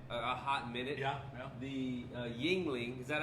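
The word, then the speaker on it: Yuengling: The Yingling, is that how you pronounce it? Yeah. Yingling from Louisiana.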